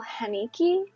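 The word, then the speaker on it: Haneke: the piano teacher from 2001 directed by Michael haniki I think is how you say his name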